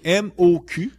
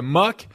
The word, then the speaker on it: Moq: aujourd'hui donc donc mu c'est M oq comme MCK you en anglais ça fait M you mais en français nous on on appellerait ça m parce que c'est comme ça qu'on le prononce mais c'est M cul les